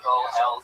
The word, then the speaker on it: pozole: Now, if you look up chicken, I believe it's Pozole, and it's pronounced pozole for all you fucking gringos out there.